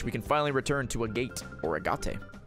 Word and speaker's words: Agate: We can finally return to Agate or Agate. It's pronounced Agate.